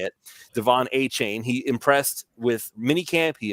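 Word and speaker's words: Achane: We heard the Devon A-Chain, and I did learn it is pronounced A-Chain. So I'm trying to readapt the way that I say it. Devon A-Chain, he impressed with minicamp.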